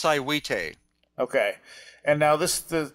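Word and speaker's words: Saihuite: I can't pronounce it s a i h UI T that's siwi okay and now this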